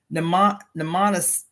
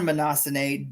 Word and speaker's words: Mnemosyne: It is said that Zeus conceived the muses on Nemosyne. Nemosyne. I'm struggling to pronounce her name. Nemosyne. Conceived on Mnemosyne during the orgiastic frenzy that followed his violation of his mother Rhea.